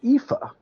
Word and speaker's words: Aoife: phil yes so ao aoife is an irish name pronounced ifa now shout out to